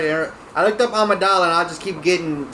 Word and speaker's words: Amidala: Oh, And- Amidala. Amidala, yeah.